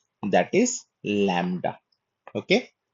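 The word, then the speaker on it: lambda: तो जो शुरू में ये एल है जो ल का उच्चारण है दैट इज लैम्ब्डा।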